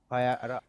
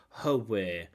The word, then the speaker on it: where: In these questions like where, when, why, the H is silent.